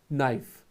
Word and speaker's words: knife: You don't pronounce K, knife.